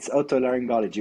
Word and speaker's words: otolaryngology: Yeah, so it's otolaryngology, which is basically ear, nose, and throat disease and head and neck disorders.